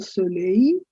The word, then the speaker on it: soleil: look at something like s o l e i l, soleil. So, you can make an intelligent, informed guess that this is about the sun. Il fait du soleil. Simple, soleil. The last l is silent.